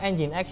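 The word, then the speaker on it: nginx: ya tapi yang penting kalau ngomong engine X ya engine X ya jangan nging gu ya Yang ini loh kadang ada orang yang baca engine X ng aku kalau kalau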